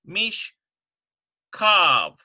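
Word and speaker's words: מִשְׁכָּב: Right now it says mish chav, but we're going to put a dagesh because this dagesh, notice that this chav becomes a kaf because it's starting the second syllable. Mish kav. Mish kav.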